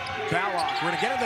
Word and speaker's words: Ballock: Yes, we said Ballock. We're going to get into the pronunciation of the sharpshooter for Creighton and his name in a moment.